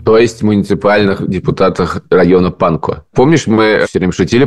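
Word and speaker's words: Pankow: есть муниципальных депутатах района панко Помнишь мы всё время шутили про район Панков оказывается что традиционно в этих словах буква в в конце не произносится поэтому он район панко Ну он наверно панко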